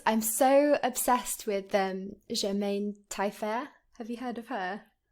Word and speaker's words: Tailleferre: I'm just I'm so obsessed with Germaine Tailleferre.